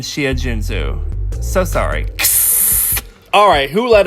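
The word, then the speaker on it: Xia Junsu: Ever wonder what an X sounds like? Well, it's an sh sound, not an X sound. Shumin and Shia Junzu.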